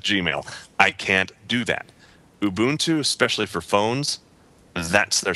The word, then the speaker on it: Ubuntu: Is it Ubuntu or is it Ubuntu or what? I've heard it pronounced Ubuntu. I think that's right, and I apologize for calling it something else.